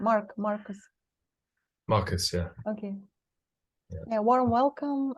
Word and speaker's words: Marcus: warm welcome to Marcus is that the right pronunciation of your name Mark Marcus Marcus yeah okay yeah warm welcome and thanks for